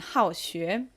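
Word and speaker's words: 好学: All right, and same with this one, 好学. It is fourth tone again, and it means to be studious.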